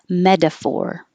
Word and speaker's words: metaphor: most of the time metaphor the t changes to d metaphor and if it's adjective